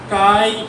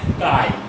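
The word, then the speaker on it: χ: চুম্বক গ্রাহিতাকে আমরা কে বা কাই এম, এটার উচ্চারণ হচ্ছে কাই। হ্যাঁ, এটা উচ্চারণ কাই।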